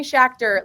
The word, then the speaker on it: Schachter: It's Schachter, like tractor. So that's how I'm remembering how to pronounce your name.